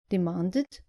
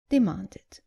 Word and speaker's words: demanded: Just make sure you pronounce the e clearly. So, not invited, but invited. And not demanded, but demanded.